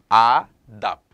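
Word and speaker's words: আদাব: 그래서 하지만 요것도 니지만 이제 한국어로 따지면은 니지만 하지만 이거는 발음이 더예요. 더. 이거 발음이에요. 이거 발음이요. 우리가 영어 쓰잖아요. 디. 자, 더. 아답. 자, 이렇게 발음해 주시면 되고요.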